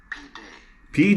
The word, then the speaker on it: pide: Pide.